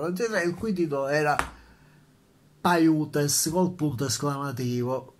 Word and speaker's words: Paiutes: con un punto esclamativo, Paiutes o Piutes? Non sono sicuro della pronuncia, credo Paiutes, ma non ci scommetterei la vita, non sono andato su Google per controllare la pronuncia esatta, ma in ogni caso, è di poca importanza.